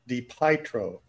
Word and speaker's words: DiPietro: I think that's pronounced DiPietro. Well, you know how I am with names. No, it has pie in the word, so I'm going to emphasize that. Well, they never did that